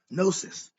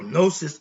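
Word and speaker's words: gnosis: a concept moving on nosis is spelled GN o s i s my definition nosis is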